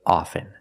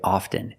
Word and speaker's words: often: words soften and often with both words I don't pronounce a t i say soften and I say often but sometimes you'll hear people say often and it's not wrong it's okay people say both often and often I prefer often now